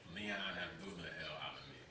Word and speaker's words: Leon Abdullah El-Alamin: Leon, how do you pronounce the whole name? Leon Abdullah EL-ALAMIN.